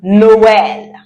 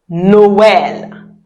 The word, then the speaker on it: Noël: Noël. Noël. Very good. Noël means Christmas. Right. And if I want to say Merry Christmas, I would say Joyeux Noël. Say that after me. Joyeux Noël.